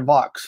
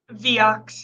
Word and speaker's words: Viox: Is it Viox or Vox? How do you pronounce it internally? Viox.